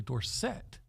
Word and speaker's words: Dorsett: a Cowboys fan when Tony Dorsett came out of pit as a Heisman Trophy winner and told everyone his name was actually Dorsett right but the odd